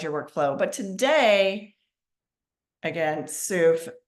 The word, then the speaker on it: Soof: But today, again, Soof, that's SOOF as in Frank. And like she said, it rhymes with proof.